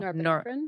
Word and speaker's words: norepinephrine: Norepinephrine?